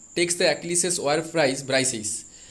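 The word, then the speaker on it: Briseis: দ্য অ্যাকিলিসেস war prize ব্রাইসিস, অনেকেই বলেন ব্রিসিস, অনেকেই বলেন ব্রিসাইস। ওকে, যেটাই বলতে পারো, আমি এখানে ব্রাইসিসই বলবো, কারণ এটা গ্রিক ওয়ার,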